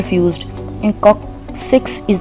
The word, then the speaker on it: coccyx: और कॉक्सिक्स, it's pronunciation is कॉक्सिक्स, इसके अंदर हमारे पास जो होती हैं 4